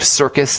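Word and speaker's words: Sircus: Mark Circus. That's spelled S as in Sam, I-R-C-U-S, and he writes a lot about using bicarbonate for the pancreas.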